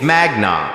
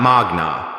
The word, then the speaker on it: magna: You said magnum laud Harvard Law in your introduction, but you pronounced magna wrong. It's magna, not magna. Latin stress patterns fall on the penultimate syllable when it contains a long vowel.